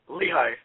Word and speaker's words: Lehi: Is it Lehi or Le? How do you say it? It's Lehi.